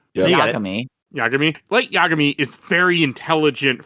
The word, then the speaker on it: Yagami: He made a good move at the end, but he's not Light Yagami. I'm saying it wrong, aren't I? Yeah. Yagami.